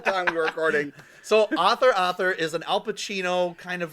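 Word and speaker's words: Author! Author!: Thriller um and then author author I said it right author author yeah that's the last time he's gonna say that he'll it up I always say Arthur Arthur I said Authur Arthur I think we I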